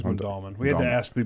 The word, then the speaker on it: Mondawmin: Mondawmin, yeah, I think it's Mondawmin.